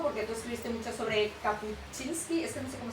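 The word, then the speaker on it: Kapuściński: contases un poco porque tú escribiste mucho sobre Kapucinski, es que no sé cómo se pronuncia. Kapuchinski.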